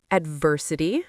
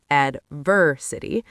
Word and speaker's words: adversity: Pronunciation points include adversity, with stress on the second syllable, adversity.